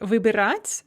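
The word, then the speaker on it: выбирать: we see that here the imperfective vibrates has the stress on the final syllable on ah whereas the perfective vubrits has stress on the and when this happens the stress remains fixed on the e in the prefix all throughout the paradigm so that's one thing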